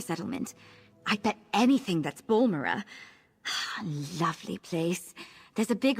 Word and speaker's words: Balmora: I always called it Balmora, so I guess Balmora is the correct pronunciation.